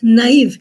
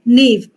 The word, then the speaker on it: naive: knife is has got two dots and I'm pronouncing it as naive it is not Nave because na is a French word and uh